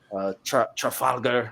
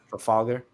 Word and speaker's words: Trafalgar: They've already introduced Law, Trafalgar. I don't know how you say it. That's how you say it. You said it right. Trafalgar. Trafalgar. Trafalgar.